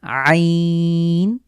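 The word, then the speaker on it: ع: দুটোর উচ্চারণ একটু স্পেশাল আমরা কন্ঠের মাঝখান থেকে চাপ দিয়ে হলকের মাঝখান থেকে উচ্চারিত হবে আইন হা এরপরে দুটো হরফ এগুলো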